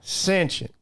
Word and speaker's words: sentient: you say unless you unless you say sentient yeah sentient put the emphasis on the first syllable sentient is this going